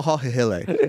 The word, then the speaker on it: Jamal Hill: First of all, pronounce his name right. It's Jamal. Jamal. It's Jamal Hihile. Jamal Hille.